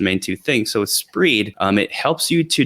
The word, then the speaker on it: Spreed: one is really cool it's an extension called spreed which is tough to say so I'm going to spell it also SP P re e e d